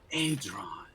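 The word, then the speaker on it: Aidron: Adron, by the way, I just want to make sure I pronounce it Adron, right. yeah. Adron, a bronze dragon I was sent on another's behalf.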